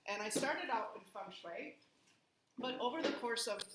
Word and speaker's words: Feng Shui: And I started out in Feng Shui, but over the course of those years I